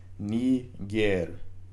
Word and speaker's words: Niger: U, and Okay, so the I in quote unquote Niger actually makes an E sound. So it's Niger. Okay, so Niger is how that word is pronounced.